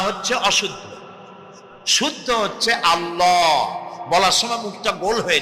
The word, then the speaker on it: আল্লাহ: কি করি তিনি টের পান না অবশ্যই টের পান এটি আমাদের মনে রাখতে হবেতো আল্লাহ তালা তার উপরে আমাদের বিশ্বাস হচ্ছে এই যে তিনি আরশে আরশে আরশে আছেন এবং তিনি না জানেন না দেখেন এমন কিছু নাই।